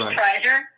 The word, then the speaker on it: Preiser: It's Prizer Preiser. That's how you spell it.